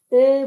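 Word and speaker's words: へ: Place हे particle यसमा हे युज भएको छ, तर यसलाई चाहिँ प्रोनाउन्सिएसन गर्दा चाहिँ ए प्रोनाउन्सिएसन गर्नुपर्ने हुन्छ।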